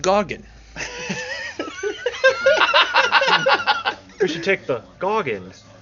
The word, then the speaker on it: Gorgon: It's pronounced Gorgon.